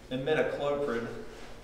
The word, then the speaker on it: imidacloprid: So I think, and it's probably subject to debate, but I think the correct way to pronounce it, if anybody cares, which probably don't, is imidacloprid.